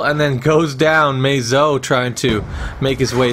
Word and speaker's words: Mazoh: and his name is pronounced Mao I was pronouncing it wrong earlier it is Meo it is not Mao freestyle knives with a nice skewer there there